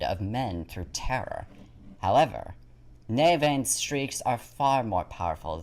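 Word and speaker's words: Nemain: final aspect of the morigan is the goddess navain which is spelled as n-e-m-a-i-n navain is another war goddess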